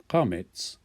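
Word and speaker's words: קמץ: form as chametz chatuf, only now it's called chametz. And this is a long A sound, and so we transliterate it with the letter A and a line across the top.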